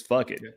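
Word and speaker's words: fakit: Also, turkey in Choctaw, if you don't know, is spelled F-U-K-I-T, and it sounds just like that. It is fuck it.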